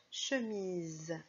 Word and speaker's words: chemise: Chemise, on entend Z comme dans la valise, puisque le S est entouré de deux voyelles.